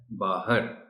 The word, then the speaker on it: باہر: سلوک۔ حسن سلوک۔ باہر، عام طور پر ہم اسے باہر بولتے ہیں، درست تلفظ اس لفظ کا ہے باہر۔ باہر ایک الگ لفظ